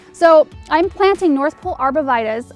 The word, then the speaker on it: arborvitae: So I'm planting North Pole Arborvitaes. Arborvitae is the way we pronounce the name in my area. Arborvitae is another way I've heard it, which is probably proper, but I'm going with what I know here.